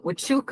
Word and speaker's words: Huachuca: It's tough pronunciation. My grandmother, you might have seen It's the easy book. once you say it, Huachuca.